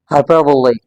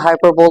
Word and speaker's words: hyperbole: The actual or the precise or the accurate pronunciation of this word is epitome. Epitome. Hyperbole. It's not hyperbole, remember.